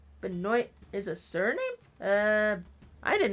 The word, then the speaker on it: Benoit: Or it's pronounced Benoit.